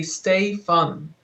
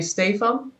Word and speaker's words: Stephan: say your name um if i have to do it phonetically in english i would say stay fun and what would you say how do you introduce yourself at home um at home i would say stay from okay and where and